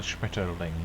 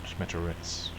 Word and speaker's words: Schmetterling: No, hang on, Schmetterling, not Schmetteritz.